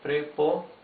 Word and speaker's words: preposición: I'll separate it in each of the four syllables, because the singular is has four syllables. Okay, preposición.